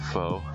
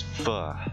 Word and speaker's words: pho: I'm a fan of foe Pho sorry I pronounced that one wrong that's on me I did my Gaijin pronunciation my dirty Foreigner pronunciation it's fur you gotta pretend you're about to hurl out an explicit but then stop halfway through that's how I remember that to myself now that I've